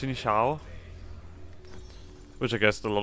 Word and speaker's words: Xin Zhao: listen voiceover no that's his name is pronounced in Shou which I guessed a